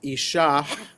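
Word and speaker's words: אִישָׁהּ: So technically it should be pronounced Isha with a little at the end.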